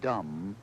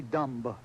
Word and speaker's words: dumb: the D on if why do we have a b at the end of the word dumb and we don't pronounce it you ever figure that out D why don't we say dumb and for that matter